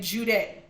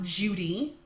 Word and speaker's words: Jude: I pronounce my name Jude. Though when I was growing up, it was pronounced Judy. Okay, Judy. Which would have probably been more like a longer E.